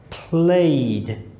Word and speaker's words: played: Played. Listen to the d.